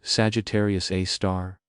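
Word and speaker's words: Sagittarius A*: Ours is called Sagittarius A, pronounced Sagittarius A star.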